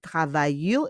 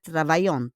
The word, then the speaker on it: travaillent: But we pronounce it travaillent. It's not travaillante.